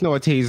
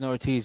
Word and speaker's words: Ortiz: It's I think it's Snortees. Like if I'm pronouncing it wrong, I think it's Snortees because I think that sounds cooler. It's Ortiz. Yes, no, you're right. It's Ortiz.